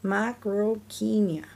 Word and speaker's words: Macrauchenia: Macrauchenia. You say it like this, Macrauchenia.